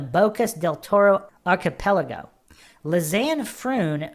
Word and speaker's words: Froon: Lzanne Frun, phonetically pronounced as Fronn with a hard trilled R. Fronn is tall, 184 cm, athletic, and just graduated from university studies in applied psychology.